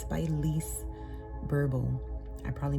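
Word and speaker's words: Lise Bourbeau: It's by Lise Burble. I probably mispronounced both of her names, first and last, but it's spelled L-I-S-E, last name B-O-U-R-B-E-A-U.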